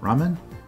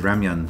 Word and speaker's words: ramen: ramen - ramen stereotype ramen man I've been pronouncing that as ramyun for so long that I'm just like